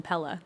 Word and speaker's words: Pelle: a lot of times you And I would- also like how you say it because that's how the Swedes say it, which is how I'm saying it. But some of them call him Pell, and Oh. Danny calls him Pelle.